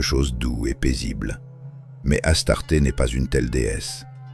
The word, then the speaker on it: Astarté: C'est pourquoi, dans la tradition russe, ce nom est prononcé Astarté, la prononciation grecque, sans distorsion intentionnelle.